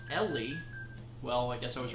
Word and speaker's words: Eli: Eli Don donated and says, hey, me and my boyfriend, Eli 301 Don, pronounced E. Oh, actually pronounced Ellie.